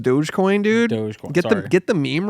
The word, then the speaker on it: Dogecoin: the dog coin yeah it's pronounced Dogecoin dude get get the meme right my bad